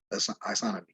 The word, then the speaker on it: isonomy: Some people say isonomy, I pronounce it isonomy.